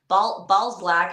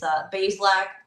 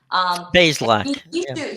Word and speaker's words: Bazelak: Now they have a third string quarterback that they're putting on the practice squad, and Connor Balzlak. I can never like pronounce his name correctly. It's Bazelak. Bazelak.